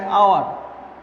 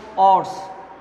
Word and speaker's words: hour: When consonant pronounced as O, then we use N instead of A. Suppose an hour. Suppose hours.